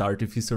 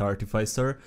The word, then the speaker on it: artificer: move be artificer because apparently it's pronounced artificer not artificer somehow i've been through